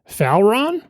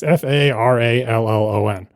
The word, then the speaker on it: Farallon: Only when my child's brain saw that word and just scanned it, it pronounced it internally as, let's see, Falron, which is not how you pronounce it. It's Farallon.